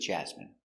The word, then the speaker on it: jasmine: Pronunciation, jasmine. J, j. A, ja. Z, jaz. Jaz. M, jasm. I, jasmi. Jasmine. N, jasmine. Jasmine. Stress the first syllable.